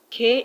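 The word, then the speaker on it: quay: have the same pronunciation we have key k u y and you also have k as in q u a y they have the same pronunciation we have t t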